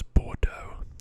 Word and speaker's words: Bordeaux: about here and that's Bordeaux so I think usually this Eau sound in French is pronounced oh the word for beautiful